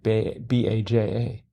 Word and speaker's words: Baja: How do you pronounce that J in B-A-J-A?